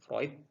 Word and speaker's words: Freud: Kemudian psikologi dalam psikoanalisa ya, yang terkenal adalah Sigmund Freud ya, bacanya bukan Freud ya, Freud ya, bapak psikoanalisa kita ya.